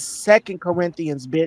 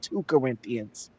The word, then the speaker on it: Second Corinthians: It's second Corinthians, not two Corinthians, right?